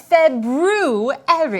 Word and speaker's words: February: month we are currently in oh the proper pronunciation for the second month of the year is February I know that because of see not that